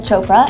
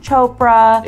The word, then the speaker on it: Chopra: got together with Priyanka Chopra. I have problems always pronouncing her name. Priyanka Chopra. Chopra. There's no R. Chopra. There's an R.